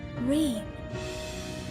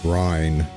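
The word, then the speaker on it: Ryne: Reen. Yes, I rather like the sound of it. Reen, I gotta remember that. Not pronounce it Rhine. Reen.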